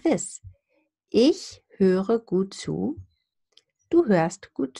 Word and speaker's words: höre: However, so this R here is pronounced if you say the full word, because you have a two-syllabic word now, and the R is considered the beginning of the second syllable. And then you have this soft R that I discuss in my R videos.